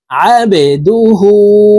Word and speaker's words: عبده: এই আইনকে হলকের মধ্যখান থেকে চাপ দিয়ে উচ্চারণ করব। দেখুন এভাবে পড়ব। আবে, এই বা কলকলার হরফ নিচের দিকে ধাবিত করে ধাক্কা দিয়ে উচ্চারণ করব। আবেদুহু ওয়া রাসূলুহু, আবেদুহু ওয়া রাসূলুহু।